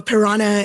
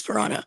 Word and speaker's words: Prna: That's how they said Prna when I first joined Discord. They're like, how do you pronounce Prna? Is it piranha because you eat all my soldiers? I was like, yeah, it is piranha.